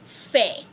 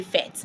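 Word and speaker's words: fait: like F-A-I-T, you say fair. You can see I did not even pronounce the T. If you had pronounced the T, you would have been so wrong of us, okay? You won't say fet.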